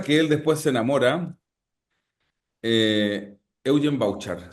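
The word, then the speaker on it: Evgen Bavčar: Que él después se enamora, Eugen Bauchar, se escribe Evgen Bavkar.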